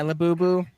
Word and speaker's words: Labubu: Laboo. I don't even know how to say it. My Yeah, Lubu. Yeah, labubu.